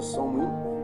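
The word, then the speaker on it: Samhain: O o Halloween, ele tem uma raiz, ele tem suas raízes antigas num festival do Celta chamado de Samaim, que pronuncia Samuim, que é celebrado no dia 31 de outubro.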